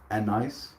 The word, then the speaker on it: anise: Anise? Anise? Anise? Anissa. Anise. How many ways can you say it? In England, I think they pronounce it more like anise. With the accent on the first syllable.